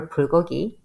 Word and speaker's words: bulgogi: of my favorite restaurants, and they have it's bulgogi. Is am I pronouncing that right?